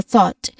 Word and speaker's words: thought: So thought. Explanation: the O makes one sounds. The G and H itself is excellent and excellent at silence. So these are silent letters.